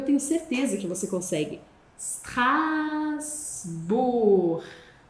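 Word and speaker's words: Strasbourg: Strasbur e o gão, ó, com u, som de u, como no no G de luvra, strasbor. E aí, para você treinar sr você vai separá-lo com uma pequena respiração, stras bur e aos poucos você vai acelerando. Super.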